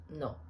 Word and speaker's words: no: with the pronunciation because in italian is no without any u sound then in the middle